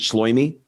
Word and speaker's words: Shloime: Is that how you pronounce it? Shloime?